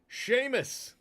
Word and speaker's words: Seamus: Seamus.